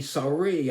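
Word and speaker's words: Sarie: he won something called the sorry sorry sorry it's s-a-r-i-e sorry I believe it's how you pronounce it award and that's the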